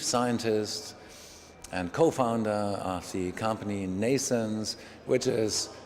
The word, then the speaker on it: Nnaisense: am the chief scientist and co-founder RC company Nason's which is pronounced like birth in English like Mason's but